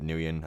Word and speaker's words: Nguyen: some people say it's pronounced Win. He pronounces it Nguyen, apparently.